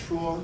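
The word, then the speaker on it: 說: know Chinese know that in modern Chinese that's pronounced shuo, meaning to speak. But I guess Chinese really love to speak. Before that was the rating of that is yue, meaning to have pleasure.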